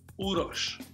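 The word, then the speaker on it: Uroš: 98 times a day it's uros but it's pronounced with a little silent h at the end so it's urosh is between my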